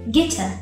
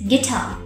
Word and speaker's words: guitar: look at the word guitar we don't say gita it ends in air but friends we don't say gita it's guitar and also you have to take care of